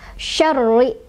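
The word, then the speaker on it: شَرِّ: Ro-nya ada tasydidnya, jadi itu kita tekan, cara bacanya kita tekan, tapi tidak seperti gunnah, ini bukan gunnah ya, jadi ditekan aja. Syarri, syarri. Jangan juga terlalu rrr, syarri, jangan ya.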